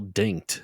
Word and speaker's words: Dincht: See, I always thought it was Zell Dinked. I thought that the H is silent.